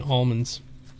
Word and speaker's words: almonds: Like the weirdos who don't pronounce the I in almonds. Or the L in almonds.